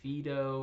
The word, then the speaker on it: Phaedo: Fido dialogue importantly you might have heard other people in your life say Fido or a Fido or something like that and um that's perfectly fine because this is in no way a Greek pronunciation course right so however you get there is perfectly okay I've heard many professional philosophers say a lot of different um pronunciations of this uh dialogue I'm going to be saying Fido throughout and it's a real